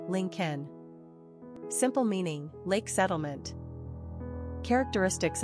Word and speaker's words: Lincoln: pronunciation link Ken simple meaning Lake settlement characteristics of Lincoln imaginative